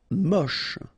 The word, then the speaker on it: moche: Moche. Don't insist on the final E, then you get the last sound is sh.